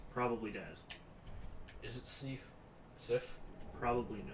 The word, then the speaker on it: Sif: Hey, it's not Seif. That thing That's looks nice. maybe cool. Great Grey Wolf. It's Sif.